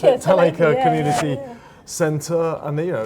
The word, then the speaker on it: Talacre: And we're we're sitting here in the Talacre, that's how you pronounce it, Talacre Community Centre and you